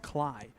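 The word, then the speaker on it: Kley: His last name is not pronounced Clay. Kelly K L E Y is how it's spelled, but it's pronounced Cly.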